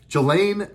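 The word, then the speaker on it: Ghislaine: go here we go Jelena Maxwell or Jala Maxwell I think you say your name there's an S in there but I think it's silent I've seen the news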